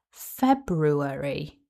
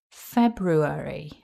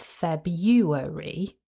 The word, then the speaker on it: February: And just to share, the other common pronunciation is February, where the r in syllable 2 is replaced with a y.